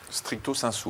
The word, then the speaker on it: stricto sensu: Stricto sensu, vous dites. Oui, je prononce à la latine, c'est un peu snob, c'est vrai.